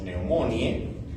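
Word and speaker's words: pneumoniae: Clásicamente se escribe tal cual estamos colocando neumoniae, pero pronunciamos neumonie.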